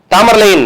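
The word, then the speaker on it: Tamerlane: தாமர்லைன் அப்படின்றதுன்னா ஒண்ணும் இல்ல, இது ஆங்கிலேய உச்சரிப்பு.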